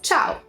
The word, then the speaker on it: ciao: so the informal one everyone knows this it's Chow Chow sure I ate oh this is tau